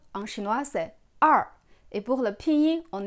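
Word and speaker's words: 二: 2, en chinois, c'est er. Et pour le pinyin, on écrit comme ER. Mais ici, il faut faire attention parce que le R en chinois ne se prononce pas comme le R en français.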